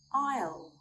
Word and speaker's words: isle: We do not pronounce the letter S when it comes before the letter L or after the letter I, sometimes at the end of a word.